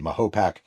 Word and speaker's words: Mahopac: Some people pronounce it Mahopac.